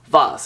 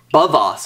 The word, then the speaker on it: VOOZ: it's made from bang and this is called voss it's not it's called it's not called bavas or anything because there's a b this is called voss you know v-o-o-z isn't that pronounced vos i